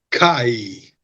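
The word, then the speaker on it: Keir: porque la pareja Starmer, que se dice Kai, a pesar de que se escribe kare, eh recibieron ropas carísimas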